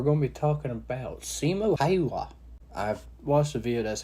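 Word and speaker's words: Simo Häyhä: Today we're going to be talking about Simo Haywa. I've watched the video. That's how you pronounce it.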